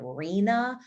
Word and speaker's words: RHNA: housing system by housing nerds we call it reena rhna why is it called marina i have no idea but you pronounce rhna as asrina and this is this